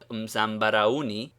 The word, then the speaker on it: Mzambarauni: the quarters of Zanzibar, the u is quite separated from the a, and the last two syllables are pronounced like the English ony, uni.